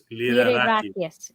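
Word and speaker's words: Lyrarakis: Liderakis. Liderakis.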